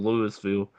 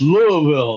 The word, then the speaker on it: Louisville: People love to call Louisville Lewisville. Because of Louiswis, you know, the name Lewis. Yep. It's Louis It's Louisville. The S is silent.